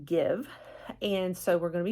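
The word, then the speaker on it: GXVE: I knew it's called give now it's spelled funny but it's pronounced give and so we're going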